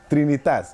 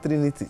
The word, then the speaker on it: Trinitas: Sorry, how do you say it again? Trinitas. Okay, not Trinity. Trinitas. Yeah. Yes, from Trinity, but Trinitas.